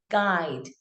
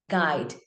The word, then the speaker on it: guide: Now skip your U and try to read the word. So it's guide, guide, and not guide.